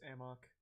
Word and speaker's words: amok: much of a headache it's not pronounced a muck in the game it's amok it's not a muck